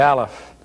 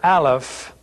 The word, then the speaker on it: Aleph: So again, we want to remind you that this letter Aleph is a silent letter. By that we mean that you only pronounce the vowel which is beneath the letter. You don't pronounce the letter, you just pronounce the vowel beneath it.